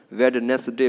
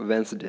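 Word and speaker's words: Wednesday: वेडनेसडे बोल देते हैं। यहाँ पे डी जो है आपका साइलेंट है, ठीक है। तो क्या बोलना है इसको? वेंसडे, है ना।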